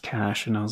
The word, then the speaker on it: cache: I was called this vertex cach a and then till one day somebody was like it's actually just pronounced cache and I was like